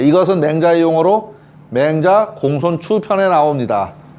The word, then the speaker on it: 공손추: 예, 이것은 맹자의 용어로 맹자 공손추 편에 나옵니다. 예, 요것도 축이라고 읽지 않고 추라고 읽어야 됩니다. 공손추, 맹자 공손추.